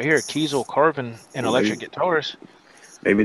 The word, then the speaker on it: Kiesel: Is Kiesel made by Carvin? Is that right? I didn't say Diesel. I said Kiesel.